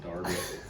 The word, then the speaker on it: Derby: Derby I think I'm it's spelled Derby but they pronounce it Darby so we should I